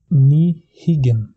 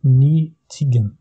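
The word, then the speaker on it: ní thuigeann: Je prononce ni higgin. Ni higgin. Je ne peux pas dire ni tiggin. Ni tiggin. Ça, c'est une faute. Je ne peux pas faire ça. Je dois dire ni higgin.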